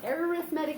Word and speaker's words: arithmetic: guys haven't heard before, and this is how it's spelled. And have you read it in your notes? It's like this. It says arithmetic.